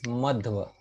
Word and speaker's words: Madhva: Because sometimes some individuals mispronounce his name as Madhva Acharya or Madhava Acharya. No, no. The name is Madhva.